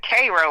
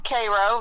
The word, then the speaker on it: Cairo: It's actually they pronounce it Cro like the ser. Okay, there you go. Yeah. Uh so yeah. Um yeah, I'm from Cairo.